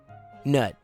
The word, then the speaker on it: Gnut: So how do you actually say his name? Is it actually Nut or is it Gnut? Or Goot? Or Root? Gnut. Gnut. Nut. Newt. It is Nut.